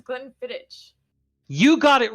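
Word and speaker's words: Glenfiddich: Distillery 15year Solara blend gleni is not spelled the way it sounds because is that how you pronounce it I thought it was Glen fittit you got it right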